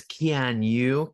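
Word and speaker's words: Keanu: believe Kean there's some discussion about how you pronounce his name actually. Yeah. Yeah. But it I I believe it's Kanu K.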